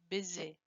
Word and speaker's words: busy: The next word is busy. Z. This Z that you have here is pronounced Z. Busy. No BC.